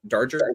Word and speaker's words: Darger: Is it Darger, or how did you pronounce it? Darger.